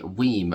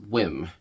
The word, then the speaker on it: WiiM: recent video called the weim mini it's actually pronounced whim but you know who's checking right so this is the whim mini high reses audio